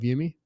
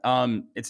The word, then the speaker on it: Umi: just give us a 30- second description of Yumi yeah um it's actually pronounced Umi which is okay that's a common